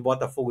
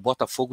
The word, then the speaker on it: Botafogo: de de estados diferentes, quando pronunciam Botafogo, pronunciam de forma diferente. O mineiro fala Botafogo. O pessoal do subúrbio aqui do Rio de Janeiro, tem muita gente que oriunda de Minas fala Botafogo, entendeu?